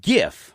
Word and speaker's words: GIF: it Jif or gif gif it the creator says it's gif the hell does he know he's an idiot well yes but and I agree with you it's it's it's a hard G but what do I